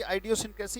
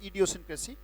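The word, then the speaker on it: idiosyncrasy: सो इट कैन बी आइडियोसिनक्रेसी, इट कैन बी इडियोसिनक्रेसी, right. Either way आप दोनों तरीके से इसको बोल सकते हैं, आइडियोसिनक्रेसी और इडियोसिनक्रेसी। ये उच्चारण है इसका।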